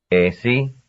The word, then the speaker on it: así: Así, así. Así, así. Number 39. Now repeat these. Be careful to pronounce the first syllable right. And keep your lips drawn back tightly.